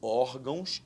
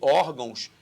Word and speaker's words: órgãos: Cuidado, órgãos é paroxítona terminar em ditongo. Já falhou. Episódicas, também proparoxítona, sílaba tônica antepenúltima. Obedecem à mesma regra de acentuação gráfica. Comentário errado, porque órgãos é uma paroxítona.